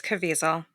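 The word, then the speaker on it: Caviezel: plays Tim Ballard is Jim I can never pronounce his right name it's cavel cavel thank you tou M do you know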